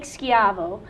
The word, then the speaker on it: Schiavo: us explore is our first guest today Nick skavo the energy specialist for the City of Santa